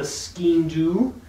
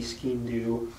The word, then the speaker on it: Sgian Dubh: Then there's also the Sgian Dubh, which is theoretically a knife. This is a horrible version that I thought was an actual knife and is not. They call it the safety Sgian Dubh.